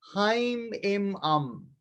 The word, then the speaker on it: Haim Im Am: And along that line, visualize the mantra Haim Im Am. 3 syllables, Haim, Im, and Am.